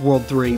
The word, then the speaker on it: WWW: I don't know if it's actually stated anywhere in this game that that's pronounced World 3, but in the second game, I think they mention it.